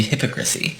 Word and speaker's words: hypocrisy: I thought it was pronounced hypocrite. It should be hypocrisy.